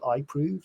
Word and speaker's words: iProov: here, but one company that's fascinated me called iProve, that's spelled IPROOV, using face recognition biometrics, making it possible to start a bank account in less than 20 minutes.